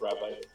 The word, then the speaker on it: Rabite: are really cute rabit I want to call them rabbits but it's rabit actually they're called rabit because that is a that is actually a uh it's spelled rabite or rabite because of a mispronunciation of the actual word rabbit ah that is inherent to Japanese it be rabito or